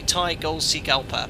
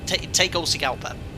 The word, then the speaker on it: Tegucigalpa: fly that uh approach into uh let me pronounce this correctly thai gold sea gulper take all sigelpa i think that's how you pronounce it according